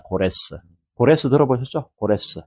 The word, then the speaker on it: 고레스: 여러 발로가 있지만 출애굽 시대 때 바로가 특별한 바로였고 그다음에 바하사 페르시아의 대표적인 왕이 고레스야. 고레스. 고레스 들어보셨죠? 고레스. 영어로는 사이러스라 그러는데 발음을 우리 식으로 발음한 겁니다.